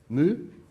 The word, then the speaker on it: mu: You also see here a angle, mu. The speed, mu, yeah. What's the proper English pronunciation?